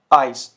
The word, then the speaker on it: Eis: zum Beispiel देखिए, bleiben, bleiben, reisen, reisen, ice, ice। और इन तीनों वर्ड्स में देखिए ये कॉम्बिनेशन आ रहा है। ठीक है, बट ये साउंड क्या कर रहा है, आई अल्फ़ाबेट की तरह, आई ऑफ इंग्लिश।